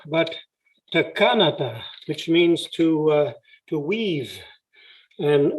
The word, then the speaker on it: Texa-Kolo: I had to correct along the way the correct pronunciation. It's not Texa-Kolo, but Texa-Kolo, which means to weave, and referring to these crossing steps and so on.